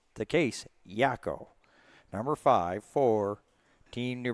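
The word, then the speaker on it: Jao: J A O. That's how his last name is spelled. But talking to the coaching staff in New Brunswick. Yako as in the guy, one of the three characters there from the animeaniacs, a 90s cartoon.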